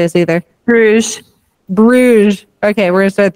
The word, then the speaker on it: Bruges: I think it's just Bruges. I don't think it's Bruges. Bruges. Just Bruges? Yeah. Just Bruges.